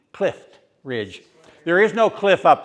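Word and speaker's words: Clift Ridge: And a lot of us old coots here just go out of our way to pronounce the T. Clif Ridge.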